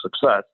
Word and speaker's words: CICESS: So we changed that to Community Initiative Center of Excellence for Secure Software, Greater Peoria, CICESS, which we pronounce success.